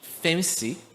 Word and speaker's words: FEMSI: O software tem o nome de FEMSI, a ferramenta de modelagem de cenários de investimentos. Acho que é um pouco engraçado porque a pronúncia dessa palavra é um pouco como fancy em inglês.